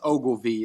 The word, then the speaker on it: Ogilvy: uh having me on and it's actually it's pronounced Ogilvy it's a named after like one of the